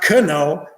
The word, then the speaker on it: know: how come it's not know but it's no the k is silent why you understand so